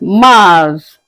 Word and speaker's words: mars: In French, we call it Mars. Mars.